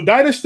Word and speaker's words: Dynasty: His name is Dynast, but it's spelled like Dynasty. Okay, cool. So without the I guess the Y.